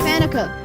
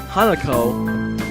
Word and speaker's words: Hanako: Who's Hanukkah? Who's Hanukkah? Hanako.